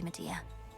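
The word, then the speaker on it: Medea: Lady Media, please. They do pronounce it media.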